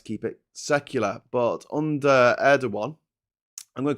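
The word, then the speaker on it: Erdoğan: The correct Turkish pronunciation is Erdogan.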